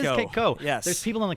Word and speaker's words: Kayko: Kayko here on Live Music Showcase. Is it Kayko or Koo? Kayko. It is Kayko.